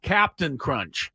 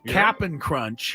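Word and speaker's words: Cap'n Crunch: I'm pronouncing that correctly it is not Captain Crunch Captain it's cap apostrophe n it is look at the box it is capping crunch yeah uh but I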